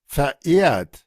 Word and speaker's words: verehrt: Comienza con V, pero se pronuncia con F. Vamos a decir there, iat, there, iat. verehrt, Nótese ahí el I,